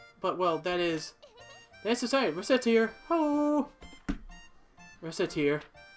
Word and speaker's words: Recettear: not that well but well that is that's reset here hello reset here mispronounce it even slightly and ret racket here